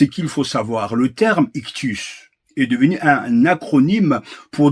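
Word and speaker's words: ἰχθύς: le mot poisson et le mot grec ictus il se prononce donc ictus en grec c'est le mot normal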